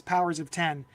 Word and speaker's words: Powers of X: called House of X powers of 10 or Hawk poox um it's really spelled like House of x powers of X but it's pronounced House of X powers of 10 and all 12 issues